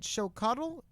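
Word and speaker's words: Xóchitl: Is it Chocotl? Yeah.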